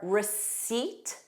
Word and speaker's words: receipt: Other random words with a silent P are receipt, a word that students struggle with. Receipt, seat. So I'm sitting on a seat, receipt, and cupboard, cupboard, bird, cupboard.